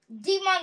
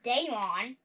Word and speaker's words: Demon: Demon that I accidentally pronounced as Daemon.